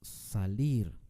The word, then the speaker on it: salir: palabra ciudad es una palabra aguda salir tampoco decimos salir decimos salir con mucho énfasis al final esto es lo que nosotros llamamos una palabra aguda cuando el énfasis está en la última sílaba ahora cuando llevan acento